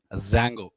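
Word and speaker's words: Django: related Frameworks are available Zango actually D Zango is the spelling d is silent D Zang is one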